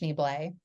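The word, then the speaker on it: Schneebly: I'm a huge School of Rock movie fan, Yeah, so I sometimes will quote like it's pronounced Schneeblay.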